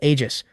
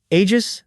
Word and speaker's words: Aegis: And there's Suo, stepping up with the handle Aegis. When the crew looks confused, he explains the English pronunciation. You know, Aegis, the legendary shield of Zeus. He spells it out, Aegis, hitting that G hard.